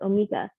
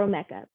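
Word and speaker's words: Omeka: a management system called omega or omeca you're going to hear it pronounced both ways so what exactly is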